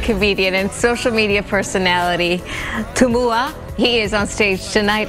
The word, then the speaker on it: Tumua: Thank you so much for joining us, Tumua. Did I pronounce that correctly?